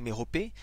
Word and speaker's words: Mérope: Ça se prononce Mérope ou Méropée, et ça correspond à une des Pléiades, qui était dans la mythologie grecque la fille d'Atlas, une des filles d'Atlas.